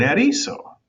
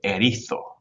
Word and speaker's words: erizo: The lady who's reading the story is clearly from Spain because when she says erizo, she pronounces it erizo, erizo, which is 100% no doubt from Spain.